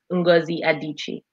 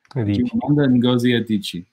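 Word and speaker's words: Adichie: name again because I'm sure going piure the pronunciation Shanda so it's an EO name so she's from the East chandi adichi adichi see wasn't that hard excellent and we we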